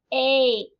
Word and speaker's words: ache: Ache. Make. How many sounds? 3. That's right. Ache. But it had 4 letters. That E is silent.